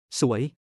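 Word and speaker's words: สวย: So means beautiful, rising tone with an S sound. So means unlucky or hapless. Same pronunciation but with a different initial consonant S versus Z sound.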